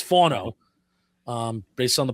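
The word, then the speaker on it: Fano: Uh, up next is Spencer Fono. And I'm using this based on Dane Buger and the Beast. It's not FO, it's Fono.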